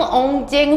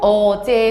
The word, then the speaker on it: 어제: 자, 첫 번째, 생종, 엉쟁, 훈민, 정흠 이렇게 읽으면 안 됩니다. 왜냐? 세종, 어제, 훈민, 정음이라고 읽어야 되고, 그러면은 너네들의 막 머리를 아프게 하는 게 세와 어와 제입니다.